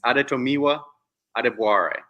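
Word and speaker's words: Adetomiwa Adebawore: in case people need to know how to pronounce this guy's name it's aretomiwa adeboye Tommy wah yeah okay go foreign man love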